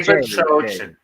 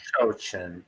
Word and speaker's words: Bachochin: Bachochin. Jay But That's right. Bachochin.